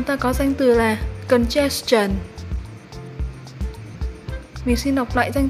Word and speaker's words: congestion: Trong phần số 2 vừa rồi thì mình đọc từ này chưa chính xác lắm. Mình xin đọc lại từ này là congestion. Và đó mới là cách đọc chính xác của từ này nhé.